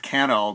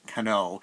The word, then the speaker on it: CANO: band Konoe on radio sometimes they were called kennel but I believe the band is pronounced Cano and this is their